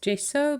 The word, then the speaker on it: gesso: people say it's pronounced gesso but I guess I am South African and we pronounced a hot G so for me it's gesso and I'm just using